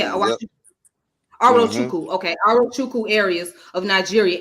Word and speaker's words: Arochukwu: And how you say Awachuku? That's how you say it. Yep. Arochukwu.